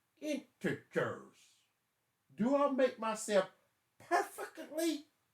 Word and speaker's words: integers: adding and subtracting integers they are not pronounced integras like a kid told me mr gill are you mispronouncing that it should be integrals i'm like no you didn't stop the madness it is enters do i make myself